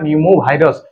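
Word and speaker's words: pneumovirus: HMPV रो full form होची human Meta न्यूमो भाइरस। ये पी अच्छे किंतु उच्चारण न्यूमो भाइरस पी टा साइलेंट हो जाऊँगा ह्यूमन मेटा न्यूमो भाइरस।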